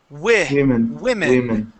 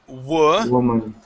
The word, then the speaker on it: women: So women, okay, so it's if it's plural is that, okay? But we actually pronounce it like this. We say women. Okay, women, okay. Woman. Yes, and the other one is woman, okay? So if it's singular, we say woman, yes.